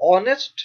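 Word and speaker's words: honest: अब ऑनेस्ट शब्द एच से शुरू होता है पर उसमें एच साइलेंट होता है और आवाज आती है ओ की, ऑनेस्ट।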